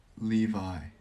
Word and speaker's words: Levi: Levi is the correct pronunciation.